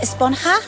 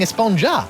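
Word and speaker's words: Esponja: been about huh actually it's pronounced espanha with an h sound at the end really but we've all been saying espanja yes i know it's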